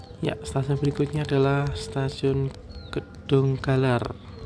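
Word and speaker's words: Kedunggalar: Ya, stasiun berikutnya adalah stasiun Gedung Galar. Ini yang benar Gedung Galar atau Gedung Jalar. Kalau ejaan Jawa ini Gedung Jalar ya. Kalau ejaan Indonesia mungkin Gedung Galar ya.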